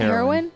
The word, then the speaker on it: heroine: say heroine like that heroine it sounds like the drug but it's not what's hair wine that's